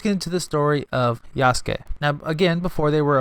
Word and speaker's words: Yasuke: Yasuke, pronounced Yasuke, but spelt Y-A-U-K-E.